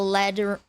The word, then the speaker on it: lead: Um, Hutch is the lead liberal, but the lead rhymes with bed.